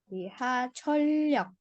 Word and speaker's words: 지하철역: 지하철역, 네, 지하철역. Nah, di sini yok tapi dibacanya seperti ada realnya di sini. 지하철역. Jadi L-nya double ya.